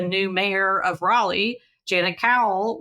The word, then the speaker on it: Cowell: And then we should mention that the new mayor of Raleigh, Janet Cowell, which is actually spelled like Falwell, you pronounce it different with a different first letter.